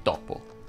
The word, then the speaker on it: topo: Ebbene, si dice moto, foto e topo, tutte con la O aperta.